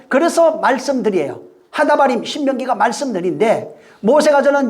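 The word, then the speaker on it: הדברים: 배우는 내용이 쓰여져 있어요 그래서 그 신명기를 하다 발음이라 그래요 하 이게 하다 바림이 뭐냐면 그 말씀들 이런 뜻이에요 응 신명기는 하다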